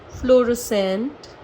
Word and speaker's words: fluorescent: तो एस के संग अगर सी आता है तो वो साइलेंट ही रहता है, और अगर के